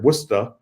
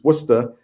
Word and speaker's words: Worcester: years I've been in Worcester Massachusetts which is pronounced here wora wer even though it's spelled like Worchester like like in England it's it's wora and it's about it's right in the center